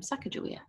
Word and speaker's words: Sacagawea: Next, I'll be reading a book about Sacagawea, or some people pronounce her name Sacagawea.